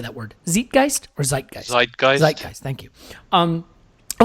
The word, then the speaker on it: Zeitgeist: Zeitgeist or Zeitgeist?